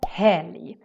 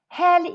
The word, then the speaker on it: helg: Helg is the Swedish word for weekend. Also here, it's a very weird pronunciation in the end. Because when we have LG, it kind of sounds like a Y sound.